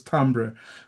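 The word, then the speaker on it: timbre: People call it timber, but it's not timber. It's pronounced as tambber.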